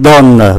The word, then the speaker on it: donnent: Và ngôi thứ ba số nhiều viết khác nhưng mà cũng phát âm giống như là ba ngôi số ít. Như vậy bốn vị trí